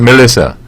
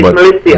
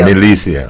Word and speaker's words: Milicia: It's not Melissa. It's not Melissa, it's Milicia. Milicia.